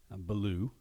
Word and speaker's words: Bellew: very good friends, Bellew. Hey, you say my name right. Yeah, well, ever since you told me it's about the bear, Right. Bellew the bear, I've kind of remembered it.